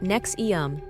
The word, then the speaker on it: NXIVM: again Keith reier started nxm pronounced nexum in 1998 positioning the